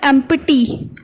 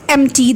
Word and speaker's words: empty: It's not empty. Empty is not a word. The right pronunciation of this word is empty. The P is silent here, okay?